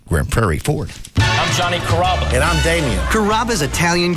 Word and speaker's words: Carrabba: Growing up, people always had a hard time pronouncing my name. People chop it up pretty good. You know, Carrabba, Carrabba. It's a really easy name to pronounce. It's Carrabba.